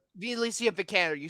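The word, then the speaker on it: Alicia Vikander: I don't know how you pronounce her name Alicia the Candor do you Alicia vicanner you spelled it you pronounced it right all right cool well if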